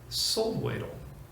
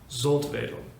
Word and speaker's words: Soltwedel: And the pronunciation? Soltwedel.